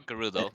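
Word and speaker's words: Gerudo: think it's it's a Jud or gudo they're pronounced gudo but Nintendo has them act like Judo so stevenh whatever link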